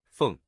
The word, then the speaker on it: 凤: we'll teach you the Chinese character for Phoenix pronunciation this is a fun character in the Chinese language because the traditional character Fung originally looked like a phoenix that gradually morphed